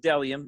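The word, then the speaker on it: Bdelliom: modern aesthetic and quality it's pronounced dellium even though there is a b in the front it is b d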